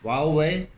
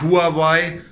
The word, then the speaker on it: Huawei: Huawei. Huawei. Huawei. Huawei. Okay, also, so wird es ausgesprochen, kann jeder mal für sich zu Hause selber üben. Auf jeden Fall nicht Huawei oder wie wir es immer aussprechen.